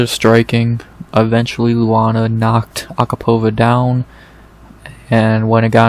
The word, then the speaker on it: Agapova: I think I'm finally saying it right, because I've said Agapova for years, but I think it's Agapova.